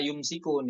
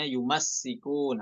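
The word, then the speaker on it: يُمَسِّكُونَ: Ya, karena di riwayat yang lain bukan yumasikun, tapi walladzina yumsikunal kitab, mimnya iskan, dibaca yumsikun ya. Di sini dibacanya yumassikun, hati-hati ya. Mimnya fathah, kemudian sinnya tasydid, yumassikun, bukan yumsikun.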